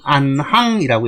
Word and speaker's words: 안항: 그래서 일반적으로 다니다, 가다, 뭐 행하다, 뭐 이런 의미일 때는 행이라고 읽고, 그 다음에 줄을 짓든지 순서, 차례, 그죠? 줄을 짓든지 순서나 차례, 아니면 같은 또래, 이런 의미로 나타날 때는 항이라고 읽습니다. 그래서 행즉 안항이라고 읽는 겁니다.